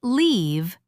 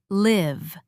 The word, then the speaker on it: live: Is live short or long? Answer: short, E, not leave, but live.